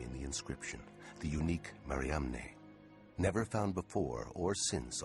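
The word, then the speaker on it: Mariamne: the first name in the inscription the unique maram never found before or since on any other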